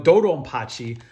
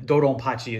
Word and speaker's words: DoDonPachi: I think Pachi is also, Hachi is how you say B in Japanese, and then Dodonpachi is just like, it turns into a P for like phonetic reasons or whatever.